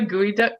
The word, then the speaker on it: geoduck: have you seen the gooey duck clams though no gooey duck clams google it it's spelled it's spelled geoduck i'm not gonna not